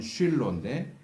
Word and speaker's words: 쉴로: 특별히 49장 10절에 나오는 실로, 히브리 발음으로는 쉴로인데 이 쉴로는 무슨 뜻인지 좀 의미가 불분명해요.